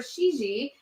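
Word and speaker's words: Cixi: it's encouraged by Emperor Shi XI that's how you say it that's how you spell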